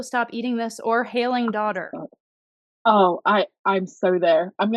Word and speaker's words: Daudir: in an American accent, I would say daughter, like Daudir.